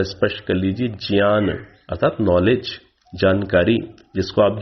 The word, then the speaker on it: ज्ञान: कर दी होगी कि आप लोक व्यवहार में जिसका उच्चारण ज्ञा करते हैं, आप क्या बोलते हैं? ज्ञान। आप क्या बोलते हैं? यज्ञ। तो उचित उच्चारण संस्कृत भाषा की दृष्टि से ज्ञा का क्या है? ज्ञा। तो मैं उच्चारण लगातार करता हुआ आ रहा हूं ज्ञान, ज्ञान अर्थात जिसे आप ज्ञान बोलते हैं, यज्ञ अर्थात जिसे आप यज्ञ बोलते हैं। तो ठीक उच्चारण क्या है? यज्ञ, ज्ञान।